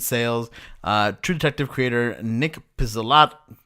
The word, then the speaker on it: Pizzolatto: Rick Bayer, Elizabeth Sales, True Detective creator Nick Pizzolatto. How do you say this name, Anthony? You're Italian. Pizzolato.